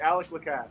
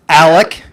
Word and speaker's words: Alec: do you pronounce your name how do you pronounce him oh alec alex alex did i say alex yeah you're good